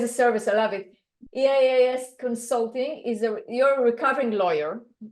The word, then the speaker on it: EaaS: Do you pronounce it EaaS? How do you abbreviate it? It's EaaS. It's my play on software as a service.